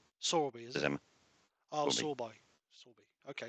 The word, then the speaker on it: Sorby: So if there's any questions on the hashtag, it's pronounced Sorby. Sorby, is it?